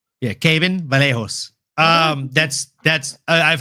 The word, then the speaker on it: Kevin: Brazilian name like Kevin, they pronounce the V as a B. So, it's Caven Vallejo. Oh, Kevin Vallejo. Yeah, Caven Vallejo.